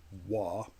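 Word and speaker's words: 和: And what that is the symbol is pronounced wa, which is a traditional term for, well, something that is Japanese.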